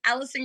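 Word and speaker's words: Alycson: My name is Allison. It is spelled A L Y C S O N.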